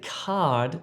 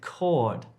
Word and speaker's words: cord: Don't say card if you're trying to say cord. Card, cord. Okay, let's look at some sentences here.